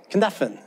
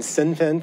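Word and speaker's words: Cynefin: Kinevan. I had been saying Sinfin for years, and it's a Welsh word, and actually it's Kinevan, actually is how you pronounce it, and so I looked that up last night.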